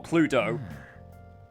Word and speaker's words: Cluedo: It was supposed to be, like, as, Lich King said, it was a bit more like Clue, or Cluedo, if you actually say it properly from ye old England.